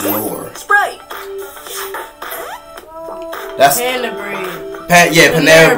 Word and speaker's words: Knorr: So the K is silent. So it's Knorr.